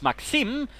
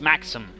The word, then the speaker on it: Maxim: First, Maxim apparently had some Russian gentleman explain to me it's Maxim and of course that's probably the way if it's Russian if you're sort of pronouncing it from the Russian side. The problem is I'm rather pronouncing it from the British in which case it's Maxim.